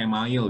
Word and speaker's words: email: Email, tulisannya kayak email tapi bacanya email gitu.